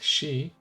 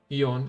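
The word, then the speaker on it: 四: five fact actually the number four which is pronounced she or Eon in some cases but she is the original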